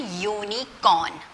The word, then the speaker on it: unicorn: You have learned U is a vowel, but when we talk about university and unicorn, the first sound you are hearing is not the vowel sound for you. Vowel sound for you, short vowel sound is a. It's not U. U is the consonant sound for year.